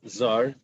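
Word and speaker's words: זר: It says Zar without a yud. That's a stranger, and it says, but we pronounce it Zer.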